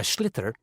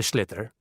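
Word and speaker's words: sliotar: this ball called a schlitter that's s SL IO t a r so it's not spelled the way it's pronounced you hit it into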